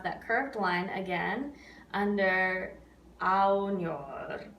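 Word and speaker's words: ognor: Yeah, so just rao, ow. It's almost like you're saying the word ow, right? Like, ow, that hurts. It's that same, it's actually a very similar vowel sound. Sospira aunor. So you can almost think of just saying ow there.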